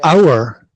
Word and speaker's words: hour: The word hour, you know, it's the same pronunciation as our, belonging to us. Yes, same word. The pronunciation is exactly the same.